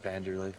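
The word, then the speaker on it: Wanderlei: Are those V's? I thought that was a W. It is a W, but it's pronounced Vanderlei.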